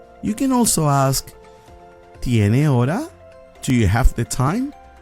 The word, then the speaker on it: hora: can also ask tiene ora do you have the time dna order the h is silent don't forget that we